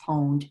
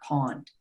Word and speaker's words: pwned: Pros pronounce pwned as pwned, not pawned.